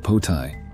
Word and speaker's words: Poltai: The third level, which is the top level, is Poltai, pronounced Potai.